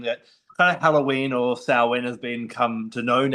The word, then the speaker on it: Samhain: a Wiccan household, and we say Samhain, actually. People say, oh, you've got to say Samhain. Well, all my life in Celtic world, we've said Samhain, so don't tell me how to say it.